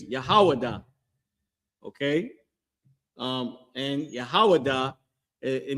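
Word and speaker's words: יהודה: That how you pronounce that in Hebrew is Yahawadah.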